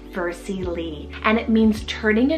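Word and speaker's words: Versie Lee: s i e and then l e e vercy Le and it means turning a new Leaf so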